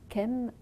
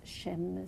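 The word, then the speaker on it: Chems: Alors Kem, ou je sais pas, peut-être qu'on prononce Chem, C-H-E-M-S, en fait.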